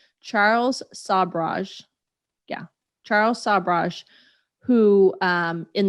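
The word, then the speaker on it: Sobhraj: And I have to make sure I pronounce his name right. Charles Sabraj.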